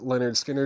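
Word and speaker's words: Lynyrd Skynyrd: Leonard Skinner, pronounced Leonard Skinner, EX $29.99.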